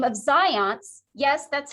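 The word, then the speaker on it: Zajonc: researchers so a researcher by the name of zions yes that's how you pronounce his name it's like science but it's zions uh and ledu said that there are some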